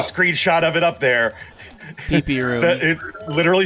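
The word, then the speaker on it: pipi: Pee-pee room. It literally said pee-pee room on the outside of the door.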